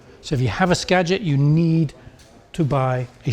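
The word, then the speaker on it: Skagit: The Scadget is pronounced Scadget. A lot of people call it Scaggit for some reason.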